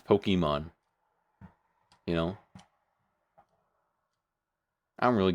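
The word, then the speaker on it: Pokémon: Um even though technically the correct way to pronounce it is Pokemon, but no one's going to say that because you're going to sound like a loser. It's Pokemon, you know?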